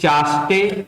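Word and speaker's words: ChaSTE: तो यहाँ पर एक अब प्रीलिम्स का प्रश्न बन रहा है, वो है कि चास्टे या फिर चेस्ट, जैसा भी प्रोनाउंस करना चाहे, दोनों अखबार में लिखे जा रहे हैं।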